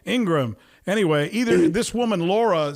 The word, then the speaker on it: Ingraham: you i guess but i guess it's ingram right ingram anyway either this woman